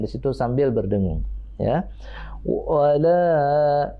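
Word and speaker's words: وَلَا: Wala la, bacanya bukan wallah. La tipis ya, sambil senyum.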